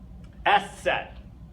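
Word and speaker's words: Eszett: little bit longer and what that is s set it's called the S set okay and all that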